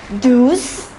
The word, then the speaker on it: douze: 11 is onze, douze, treize, quatorze and quinze.